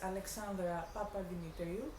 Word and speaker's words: Alexandra Papademetriou: you introduce yourself so i don't say your name wrong these long greek names hello my name is alexandre papadinitario i'm an artist from athens i'm currently living